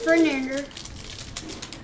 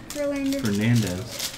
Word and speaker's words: Fernandez: Alex Fernander. Fernandez. Oh. Dude, you gotta quit guessing. You gotta read all the syllables, silly.